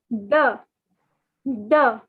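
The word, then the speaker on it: deux: in french is the so the x is not to be pronounced the x is silent so two in french is the the okay so ah the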